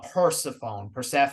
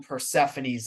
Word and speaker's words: Persephone: I've been saying it wrong the whole time. I've always been saying Persephone. Apparently it's Persephone.